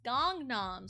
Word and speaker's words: Gangnam: Gundam style, but no, it's Gangnam style.